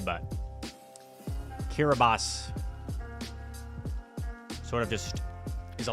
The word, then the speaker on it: Kiribati: The correct answer is Kiribati. Spelled like Kiribati, but pronounced Kiribati.